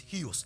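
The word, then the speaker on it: υἱός: The spelling is U-I-H-O, but the pronunciation is huios. Say huios. Now go to Romans chapter 8, verse 14 for me.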